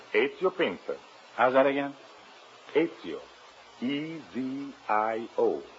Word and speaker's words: Ezio Pinza: Is that the way you pronounce it? That is right. Ezio Pinza.